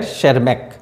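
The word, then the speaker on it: Tschermak: and Eric Von sharmak this spelling is sharmak T is silent here shermak of Austria independently rediscovered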